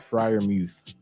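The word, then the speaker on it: Freiermuth: saying his last name friar muse say it again pat friar muse you're saying it right though i mean it's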